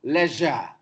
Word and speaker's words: leisure: Another problem, precious, no, precious, sha, region, religion, not religion, religion, ocean, no, ocean, Another problem, leisure, no, leisure, ja.